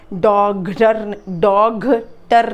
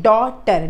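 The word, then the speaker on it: daughter: घ नहीं, GH घ नहीं, डॉगटर नहीं है, डॉगटर नहीं है, GH लिखा है स्पेलिंग में पर इसका साउंड नहीं है, डॉटर, DAUTER, डॉटर, ठीक है। साउंड क्या आएगा इसका, DAUTER, डॉटर, GH इसमें साइलेंट है, ठीक है, डॉटर, वी से डॉटर।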